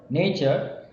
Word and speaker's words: nature: to most poetry so the first word Nature has a stress on the first letter itself that is n nature so here we have